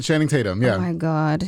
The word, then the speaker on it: Channing Tatum: watching this movie with Sandra bullar and uh tanning chadum say it right Channing Tatum yeah oh my God name j i side